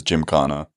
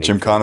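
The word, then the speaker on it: Gymkhana: Um the one place I always go to in London is Jim Kana. You're a big fan of Indian food. Yeah. Well, London's got amazing Indian. Jim Kana is the best probably Indian some of the best Indian food I've ever had.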